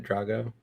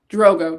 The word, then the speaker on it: Drogo: Is it maybe just Drogo? Drogo. Damn. Okay. All right. Yeah. Drogo. It's like spelled the same way, but like one has an extra G.